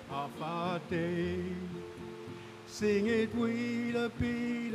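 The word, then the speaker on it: Afaadai: It's better, I know you ever, and you spell it A-F-A-A-D-A-I. As easy as 1, 2, 3, just pronounce it like half a day.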